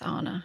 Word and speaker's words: Anna: How do you think my first name is pronounced? No. My first name? No, it's Anna.